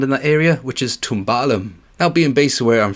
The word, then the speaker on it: Cwmcarn: Kumkan Scenic Drive, which in Welsh it is spelled like this, and then in English it would sound more like this. Cwmcarn.